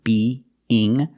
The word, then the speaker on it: being: Pronunciation, when you have the two E sounds, be, ing, you have a E sound in the middle to link the sounds.